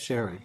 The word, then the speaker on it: Sherry: to call you sherry should i call you sorry from now on how do you how do you want that to be pronounced sherry thank you um the